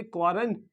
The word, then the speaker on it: quarantine: क्वांटन कर दिया गया तो इसे क्या पढ़ेंगे क्वांटन और ये क्या है सबमरीन सबमरीन द थर्ड